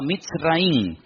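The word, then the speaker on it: מצרים: país de Egipto, que en la Biblia se pronuncia Mitzraim.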